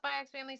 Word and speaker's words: Spy x Family: some people call it spyax family some people call us by family I pronounce this by X family that's okay I'm just